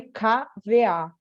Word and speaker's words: kva: Se escreve KVA, mas eles falam K.